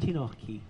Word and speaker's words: Antinowski: ¿Cómo pronuncio ese apellido? Antinowski.